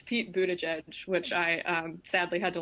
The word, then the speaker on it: Buttigieg: It's Pete Buttigieg, which I sadly had to learn when I was at Notre Dame.